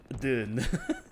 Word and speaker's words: Dune: pronounced with a soft D that almost sounds like Jew, but not quite. But it isn't a J though. Still a D kind of June.